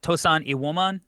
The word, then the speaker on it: Tosan Evbuomwan: Am I pronounced that correctly? Yeah, Tosan Evbuomwan. Like, it's he's British, so it's, there's some weird pronunciation when you listen to him doing it, but it's pretty close.